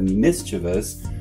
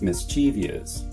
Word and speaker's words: mischievous: Well, again, perhaps the similarity between these words ends up misleading people into thinking that mischievous is pronounced mischievous.